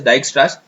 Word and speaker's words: Dijkstra: upon that digixtra's rule thanks actually it is pronounced as dijkstra's so dice based upon the dijkstra's rules uh